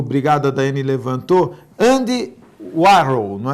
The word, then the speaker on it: Andy Warhol: E só para eu se lembrar, o Brigado da Daiane levantou, Andy Warhol, não é?